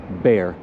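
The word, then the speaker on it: Béxar: name would have been bear which is pronounced b-e-a-r even though it's spelled b-e-x-a-r it's an accent over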